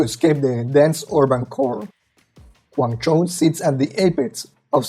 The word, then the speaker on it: Guangzhou: And I bet you don't even know how to pronounce it name. Welcome to Guang Cho. One of the most impressive features of Guango is that it's a city built on water.